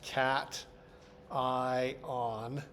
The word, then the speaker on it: cation: It is pronounced cat. eye on.